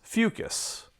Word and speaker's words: Fucus: Brown alga from the genus fucus please do try to use this pronunciation for the genus name having considered two phyla